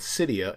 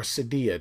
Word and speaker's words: Cydia: it's going to verify with Cydia in allow you to do that or Sadia depending on how you want to pronounce it um and it's